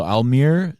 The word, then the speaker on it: Almyr: going on live here it's not an Elmer no it's spelled a-l-m-y-r as is when I asked if